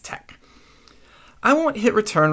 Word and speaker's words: TeX: You need Quarto install, TinyTeX, and it's TEX, pronounced tech.